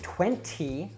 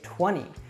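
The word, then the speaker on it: twenty: now this is because usually we don't say 20 we say 20 this is because we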